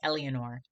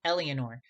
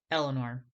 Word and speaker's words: Eleanor: every single morning on calling me elianor not only did she call me the wrong name but she mispronounced eleanor that was super frustrating